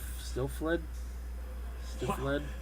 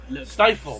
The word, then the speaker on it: Stifled: Still fled? Two wildly different takes on the horror genre, I guess that's fair to say. Also available tomorrow. Stifled, there you go, that's how you pronounce it.